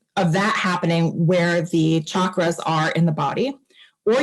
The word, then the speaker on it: chakra: meat suit okay um chakra is pronounced with a cha like church and chucklehead it is not pronounced